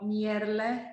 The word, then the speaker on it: Merle: So when I pronounce, it's like Aqua Merle.